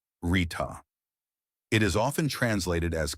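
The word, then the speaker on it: ṛta: Today's word is arta, pronounced rita.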